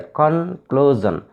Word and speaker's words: conclusion: In case of words ending in SIUN, for example, conclusion. There are three syllables here, conclusion. This word ends in SIUN. So we should stress on the second syllable, clue.